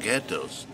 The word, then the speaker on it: ghetto: When the Jews arrived here, they were German-speaking Jews, so they transformed ghetto into hard G ghetto.